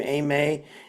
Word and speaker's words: Amay: We have with us uh Ameay and she, you know, and that's how you pronounce her name, Ameay.